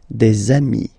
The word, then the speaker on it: amis: And if you make the liaison, so the link between the two, you will get des amis, okay?